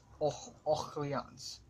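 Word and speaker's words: Orléans: 15 we went to all who yawns or however you pronounce it you know let's just search out of for none pronounce Oh yawns okay that's that's how so yeah anyway I've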